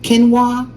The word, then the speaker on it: quinoa: Quinoa.